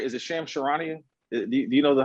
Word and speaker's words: Charania: Is it Shams Charania? Do you know how to pronounce his last name? Charania, yep.